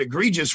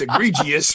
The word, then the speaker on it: egregious: what i've been pronounced i've been pronouncing the word egregious wrong for my whole life i didn't realize it's egregious but okay i'll fix